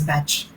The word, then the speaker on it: Bach: not the german bark this is a welsh name which is actually pronounced as batch same spelling but it's pronounced differently okay anyway so i i studied the batch flower remedies and then